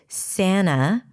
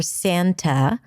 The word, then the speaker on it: Santa: The T can drop after an N in an unstressed syllable. This is why you will hear people saying Santa or Santa. If you say Santa and drop the T, you want to say it rather fast.